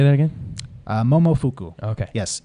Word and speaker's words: Momofuku: So how do you say it again? I was like, Momofuku. He's like, oh, Momo fuck you. I'm like, that's not what I said.